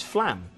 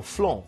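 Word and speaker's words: Flåm: the most important ports, which is Flam. Or Flon, whichever way you want to pronounce it.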